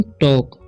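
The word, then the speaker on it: talk: भी, ठीक है, तो इसे पढ़ेंगे हम टॉक, टाल्क नहीं पढ़ना है।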